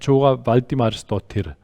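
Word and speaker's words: Þóra Valdimarsdóttir: Welcome to Jeanette Madsen and Thora Valdimarsdottir. She's Icelandic, so I did my very best to pronounce it in Icelandic.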